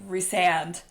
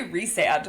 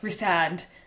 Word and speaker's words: Rhysand: And so I didn't know for years that I was saying this man's name wrong. Years. Even in the audio, they're like Rhysand. Yeah. Like, I still say Rhysand, but they're like Rhysand.